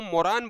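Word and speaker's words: moron: तो इसको मोरान बोला जाता है। मोरान और मोरान को याद करने का तरीका है मोर और रन से।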